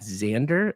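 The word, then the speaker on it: Xandr: on scalability team and how do you pronounce this xand at Xander is that how you pronounce it yeah it was like a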